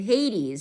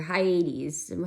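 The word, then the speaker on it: Hyades: then I went to Hades or high 80s however you want to pronounce it which is the eye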